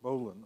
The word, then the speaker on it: bowline: in English pull the bowline pronounced bowline and I'm sure the